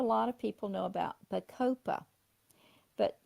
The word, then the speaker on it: bacopa: Not a lot of people know about bacopa. But bacopa has been used in Australia for many years for dementia and autism.